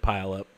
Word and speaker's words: Puyallup: I first moved here you said pile up yeah but pile up would actually be a pretty good explanation of Puyallup especially to go a